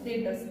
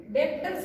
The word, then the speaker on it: debtors: Spelling बघा DEBTORS डेटर्स. पण बरेचसे विद्यार्थी याला डेप्टर्स असं रीड करतात. तर या ठिकाणी बी जो आहे हा सायलेंट आहे तर याला तुम्हाला डेटर्स असं रीड करायचं.